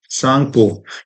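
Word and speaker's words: Tsangpo: Brahmaputra river, तो origin कहाँ से है, तिब्बत से है, जिसको बोला जाता है यारलंग तांगसो सांगपो, ठीक है। टी यहाँ पर साइलेंट रहता है।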